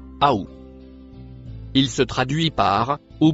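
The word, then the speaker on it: أو: Le mot qui suit en bleu se prononce aou.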